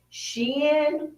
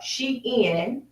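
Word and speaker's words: Shein: million in uh purchases with Shen or Sheen however you want to pronounce it you know what I'm talking about s h e i n we gave them 40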